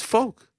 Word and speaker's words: Volk: What do you guys say, Volk or Volk? Volk. Volk. But it's folk. Yoke. Yeah, but it's coming from Volkanovski.